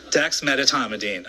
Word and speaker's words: dexmedetomidine: a very difficult word to pronounce on here, dexmedetomidine. I mean, it took me months to learn how to say this, so I want to say it again because I learned dexmedetomidine, okay?